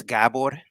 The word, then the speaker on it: Gabor: Actually, it's Gabor, like a pronunciation, but I'm used to, like, if you're an immigrant, probably are used to people butchering your name completely.